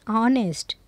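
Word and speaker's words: honest: यहाँ पे ए इज़ यूज होता है before such words which have their first letter silent, जिसका फर्स्ट लेटर जो है साइलेंट होता है, and give the sound of the vowels eight start. An hour, an ऑनेस्ट, एन एयर, N hotel, N honourable man.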